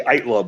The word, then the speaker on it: Aittala: Well, I mean, in the bio, I put a 3-syllable pronunciation because it's easier based on when you see it, but it's really 2 syllables.